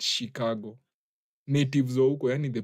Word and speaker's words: Chicago: Watu wenye wanasema huwa wanapronounce Chicago as Chicago. The natives wa huko wenyewe, the natives they call it Chicago.